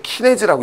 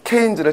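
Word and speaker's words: Keynes: 또 이거 읽으실 때 또 키네즈라고 읽지 마시고요. 쪽팔리게. 자, 국민 영어가 중요하다니까요. 바로 누가 된다? 케인즈를 찾아간 거죠.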